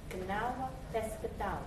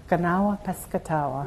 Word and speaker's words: Kanawha Piscataway: Kanawha Piscataway. Kanawha Piscataway.